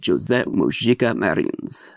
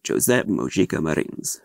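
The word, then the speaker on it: José Mojica Marins: mangled it every way you can imagine it's Jose moika Marin that's his name Jose moika Marin that's his name that's how he pronounced it some Brazilians say marij I never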